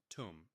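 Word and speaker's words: toum: It's pronounced tum. Here's how it breaks down to rhymes with boom.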